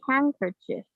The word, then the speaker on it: handkerchief: r c h i super weird why is there a d there it should be a g i don't know what should be a g there not a d it's